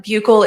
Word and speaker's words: buccal: You can say buccal swab or buccal swab. I say buccal swab. Both pronunciations are correct.